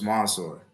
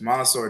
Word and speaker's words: Mansoor: so first off, it's spelled Mansoor, but it's actually pronounced with an O. So it's Mansoor. So it's Oh, Mansoor, yeah, it's Mansoor.